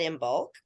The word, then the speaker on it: Imbolc: around the corner and then we just had in bulk yeah last week so that that um so it isn't it spared it's spelled i-m-b-o-l-i-c right no I am b-o-l-g originally